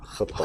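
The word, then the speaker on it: خطّاء: tentu kullu bani Adam khata, Khata. dan khata itu bukan satu kali, bukan Oke. kita bacanya itu bukan khata tapi khata ya, Ada bukan tasdidnya.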